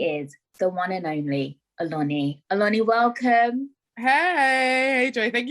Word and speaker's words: Oloni: her podcast she is the one and only alani welcome hey hey joey thank you so much